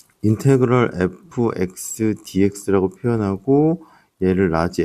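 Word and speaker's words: integral: 자, 여기서 이제 요거 읽을 때 어떻게 되냐면 인테그럴 이렇게 읽어요.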